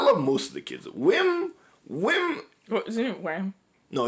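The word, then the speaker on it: Wim: him I'm like oh his name is not Wham it's whim whim whim Neil KB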